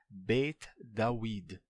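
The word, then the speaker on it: בית דוד: casa de Davi tá na pronúncia ainda dessa época seria beit dawid n a gente não tinha a transformação de em V ainda não tinha aconte e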